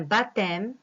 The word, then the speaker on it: baptême: Exemple, un baptême, cette, compter. D'un H, le bonheur, une silhouette, un bonhomme. Alors, comme vous voyez, ces lettres écrites en vert, on ne les prononce pas. Ce sont des lettres muettes.